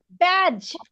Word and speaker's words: badge: Badge. Badge. When we will see Badge. DGE at the end of that, it will be G. D will be silent.